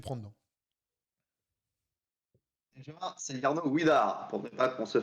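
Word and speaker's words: Widar: par les Belges, puisque le W se Yarno prononce OUE. Ouidar. Donc tu me feras le plaisir de ne plus dire Vidar.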